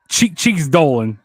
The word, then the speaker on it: Gigi Dolan: You said Gigi's name wrong. It's Cheeks Dolan.